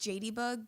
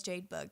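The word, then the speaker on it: Jadebug: is Jade bug 98 it's actually pronounced jadeybug but it's cool everyone just says Jade bug so I just go with it whoa it's cuz my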